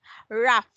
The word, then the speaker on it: rough: I'll say it's pronounced as F, rough.